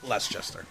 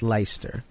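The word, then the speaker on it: Leicester: look it up sir the FIFA guys call it less gesture right cuz that's the wrong way to say it well that's how it's written it's pronounced Lyster yes and The Great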